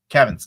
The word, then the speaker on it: Cavan: Kevin Kevin Scott. Kevin Scott. I've interviewed him. He told me how to pronounce it. It's Kev. He's like, it sounds like Kevin. So Kevin Scott.